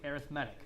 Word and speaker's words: arithmetic: But because we're using it as an adjective here to describe sequences, we say arithmetic, okay?